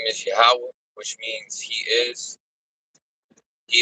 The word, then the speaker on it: Yahweh: Power, whose name is Yahweh, which means He is. He is everywhere and He is omnipotent. That is the ancient Paleo Hebrew way, the only proper way to say the Most High's name, which is in the ancient Paleo Hebrew.